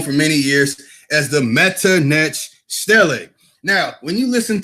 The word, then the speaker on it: Metternich: He's not saying Medunetta, the Metternich. He's trying to trick you. He wants to pronounce it like Metternich, like Prince Metternich.